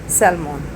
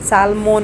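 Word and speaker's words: salmon: और नेक्स्ट है सेलमोन। हम सालमोन नहीं कहते। सेलमोन।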